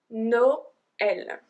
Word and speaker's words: Noël: So this one is a particular one because they are the tréma, the two little dots on the E, which means we have to pronounce the E as well.